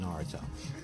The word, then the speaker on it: Naruto: I don't know how many of you guys watch Naruto or Naruto. That's how you say it, Naruto.